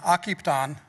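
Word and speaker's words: Akiptan: Directors also have the honor of serving on occupy on that's how you pronounce our CDFIs name and working towards that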